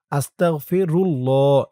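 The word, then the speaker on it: أستغفر الله: থাকে খেয়াল করে শুনবেন আল্লাহ শব্দের ডানে পেশ এবং জবর থাকলে তাহলে আল্লাহ শব্দের লামের উচ্চারণটা ল হয় পুর মোটা হয়। এজন্য এখানে হয়েছে আস্তাগফিরুল্লাহ।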